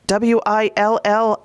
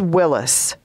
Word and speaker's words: Willys: John Willys spells his name W-I-L-L-Y-S, but it's pronounced Willys.